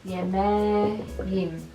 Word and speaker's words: yemeğim: So, yemek again, K is going to become yemeğim. Yemeğim. It's going to have the soft G.